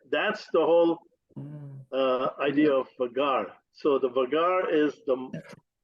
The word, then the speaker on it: vaghar: How do you pronounce what you just said? The vagar.